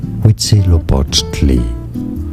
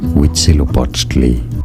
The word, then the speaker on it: Huitzilopochtli: Huitzilopochtli. Huitzilopochtli.